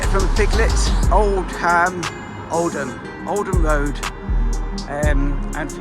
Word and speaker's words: Oldham: from piglets old ham oldham oldham road and and for you foreigners that probably don't even watch my videos we don't pronounce the h oldham lovely old building